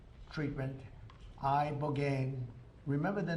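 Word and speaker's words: ibogaine: In 2024, study from Stanford University, 30 special operation veterans with traumatic brain injuries underwent, it's called I Boane treatment. I Boane. Remember the name? Is that pronounced relatively properly?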